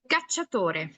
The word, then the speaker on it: cacciatore: Pero si, por ejemplo, yo les digo cacciatore, cacciatore. Ah, caray, ¿qué es eso, no? Cacciatore es cazador en español, cazador. Sí cambia bastante el sonido, bastante, y también cómo se escribe.